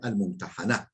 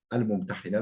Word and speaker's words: Mumtahane: olan enneha bi fethil ha'i, Ha'nın fethasıyla, yani el-mumtahane şeklinde olmasıdır. Vakat tukseru, bazen de kesreli okunur. El-mumtahine de denir.